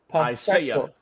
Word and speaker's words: Pacheco: Pronunciation is, I say Pacheco. It's Isaiah Pacheco.